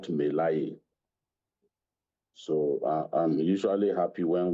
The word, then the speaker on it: Melaye: First and foremost, his name is Ali Ndume, not Ndume. Ali Ndume, just as Dino Melaye is the correct pronunciation, not Melaye.